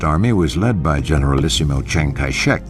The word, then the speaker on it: Chiang Kai-shek: was led by Generalissimo Chiang kai-shek whose name in the Mandarin dialect is pronounced Jang cachet by 1936 the civil